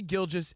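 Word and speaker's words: Gilgeous: It's Shea Gilgis Alexander.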